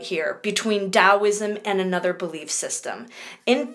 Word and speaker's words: Taoism: China is that of Taoism it sounds like I'm pronouncing it with a D but that's because of the emphasis on the T so it's almost like you pronounce it as Taoism but that's how we